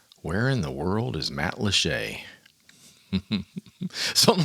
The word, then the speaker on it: Matlacha: So it's Matlacha, like it's got a Y on it, C-H-A-Y, Shay.